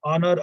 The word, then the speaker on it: honor: R, arly air, Harris, honor, honorable, honest, honestly. They must be pronounced as though there were no H at the beginning.